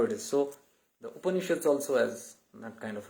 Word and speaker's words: Upanishads: That's my first ever time hearing anyone say Upanishads. Now I know how to pronounce it. Not Upanishad. Like I didn't say Upanishads.